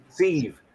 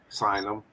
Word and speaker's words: sieve: them you know or that's the proper way to say it right sieve sign them sieve you run them through